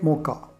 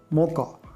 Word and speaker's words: mocha: The next is cafe mocha. Yes, we should pronounce as mocha, not as mocha.